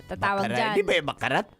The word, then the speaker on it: baccarat: Di ba yung bakarat? Silent T. Akala ko kasi bakarat. Baccarat. Baccarat. Narinig ko sa commercial eh. Silent T pala yun.